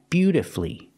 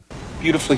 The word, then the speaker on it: beautifully: syllables masterfully masterfully and beautifully and wonderfully with these words the stress is on the first syllable and you have two syllables before f u l l y That's when the U